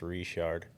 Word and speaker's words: Richard: your dad's from Louisiana yeah so it's actually pronounced reshard Richard and uh they moved to Utah in